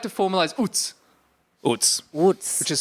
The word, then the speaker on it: oots: So I'd like to formalize UTS, Oots. Woods. which is spelled O-O-T-S-E or O-O-T-S or O-O-T-Z.